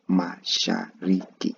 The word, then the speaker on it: Mashariki: So mimi nimetoka Afrika Mashariki, Mashariki. You see how I'm distincting the bits of words Mashariki, then combining the whole pronunciation Mashariki until you're used to that whole pronunciation.